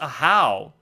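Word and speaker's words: Ajaw: Wow, aha is pronounced ahow.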